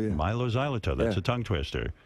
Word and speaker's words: Mylo Xyloto: Mylo Xyloto, yeah. Mylo Xyloto, that's yeah.